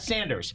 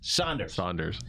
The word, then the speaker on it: Saunders: Not Sanders. Saunders. Saunders.